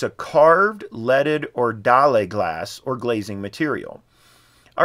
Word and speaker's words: dalle: Honestly, I'm not even sure how to pronounce this. So I went to Wikipedia, and of course, you can just see dalle glass is stained glass, as normal folks would call it.